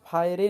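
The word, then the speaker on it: fire: ई एक ऐसा लेटर है जो वर्ड्स के लास्ट में आने पर साइलेंट होता है। जैसे टेक, रेस, फायर, कम। अब इसे हम टेके नहीं कह रहे हैं, यहाँ पे ई साइलेंट है।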